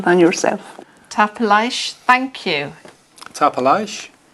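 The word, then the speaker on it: Tapadh leibh: That's for the informal, and tapalage if you're speaking to more than one person, and also the formal if you're speaking to somebody older than yourself. Tapalaish, thank you. Tapalage.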